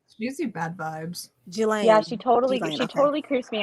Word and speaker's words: Ghislaine: Ghislaine. You're saying it right. Okay. Maxwell. Yeah. It's an unfortunate pronunciation. I don't like saying jizz in any fashion, but she is.